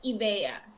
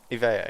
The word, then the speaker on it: Ibea: How do you actually? No, I think you got it right. It's Ibea. Ivea, yeah.